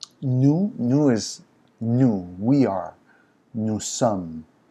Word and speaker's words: nous sommes: Nous sommes, and the S is silent unless it's followed by a word that has a vowel.